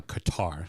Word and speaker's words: Qatar: cutter has uh the Qatar sorry them both either way you want to pronounce it put the word in front of it and you've pronounced it correctly um but obviously uh